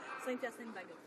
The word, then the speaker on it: Saint-Hyacinthe-Bagot: How do you pronounce that? Saint-Hyacinthe-Bagot. Saint-Bagot.